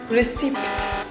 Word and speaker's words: receipt: Receipt. Receipt. Receipt. Another example of a silent sound. Can you guess what is the silent sound here? It's the p sound. So instead of saying receipt, we say receipt.